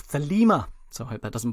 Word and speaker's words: Thelema: i can find likewise i'm going with the greek pronunciation of thelima so i hope that